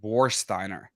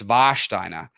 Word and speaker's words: Warsteiner: in Americans pronounce it warsteiner like wariner war and Steiner but it's vasher um it's longer so in Germany the W has a v sound the W is V